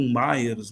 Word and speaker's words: Myers: Alguns pronunciam Myers, né? Mas ele não era americano, eu acho. Eu sempre conheci por Mears.